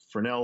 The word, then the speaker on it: Fresnel: And it's just, you hear people, Fresnel, Fresnel. And I'm just like, that's not how it's said.